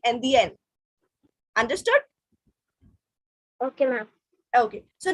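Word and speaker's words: indienne: But if it's feminine, double N E, then it will be NDN.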